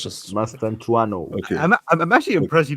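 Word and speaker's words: Mastantuono: It's just Mastantuano.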